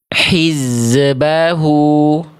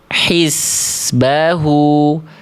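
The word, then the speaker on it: حزبه: Saya akan contohkan ee tiga pelafalan dulu deh. A, B, atau C. Mana yang tepat, ya? Yang A. Hizbahu yang B hizbahu yang C hisbahu. Mana huruf z sukun yang lebih tepat dari bacaan yang tadi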